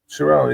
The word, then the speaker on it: Carell: I saw Steve Carell. Was that how you pronounce his name? You see him there? Carell? Carell, yeah.